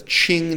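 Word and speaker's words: Qing: and again is that the Ching dynasty this is Cheng spelled with a cue cue ing the Ching dynasty period is the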